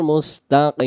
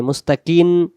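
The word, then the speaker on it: مستقيم: নামাজ পড়লে নামাজ আদায় হবে না ইহদিনাস সিরাতাল মুস্তাকিম মুস্তাকিম মিলে যাবে মুস্তাকিন কিন হবে না শেষে মিম অক্ষর মস্তাকিনা মুস্তাকিমদিনা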